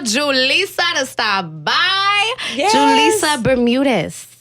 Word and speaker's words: Julissa Bermudez: saw to stop by julissa Bermudez see I said it right I said it right yeah a great action thank you do people mess it up they remix it every minute what's the craziest thing you've heard um jalisa Burman Dez no we ain't no